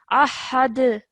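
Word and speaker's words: أحد: So ahad. Ahad. Yes, because it becomes a qalqala letter with a sukoon on it. So that's why we must produce a jerk sound.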